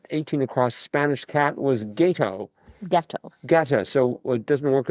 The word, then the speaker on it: gato: I always remember the A is pronounced like father. So, gato.